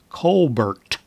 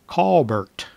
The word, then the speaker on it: Colbert: and quickly learned that he had grown up pronouncing his last name as Kolbert which sounded a lot like call Burt I began to wonder